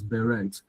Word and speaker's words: beret: I think some of us grew up pronouncing this as beret.